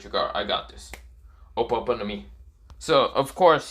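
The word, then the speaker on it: Ope Ope no Mi: it's nothing what's it open to me or what am i saying something wrong okay i've been saying it wrong it's ope yeah so just open open no me so of course he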